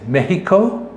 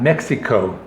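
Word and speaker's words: México: you would know that the correct pronunciation is mexico and not mexico that is when you're speaking spanish so i mean they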